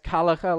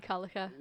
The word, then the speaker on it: Calica: Sorry, as Emily says, Calica, like Gallagher, only with the C. Sorry, Emily. Emily Calica.